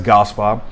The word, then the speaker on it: Gaspard: So I pronounced my last name as Gaspar, as you heard me in the beginning of the show. And it's spelled, if you would spell it, it's Gaspard. And it's a hard pronunciation because I pronounce it like a Cajun.